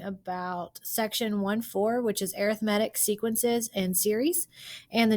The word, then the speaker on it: arithmetic: And yes, I am saying arithmetic because that's how you pronounce it. It looks like arithmetic, but when we're talking about the sequence, we say arithmetic.